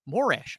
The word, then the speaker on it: Morash: Oh, I'm sorry, Morash. I just said my name wrong, and I called myself Morash. Morash. Terrific.